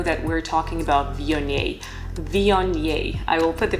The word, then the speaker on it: Viognier: Viognier. I will put the pronunciation on the screen right now.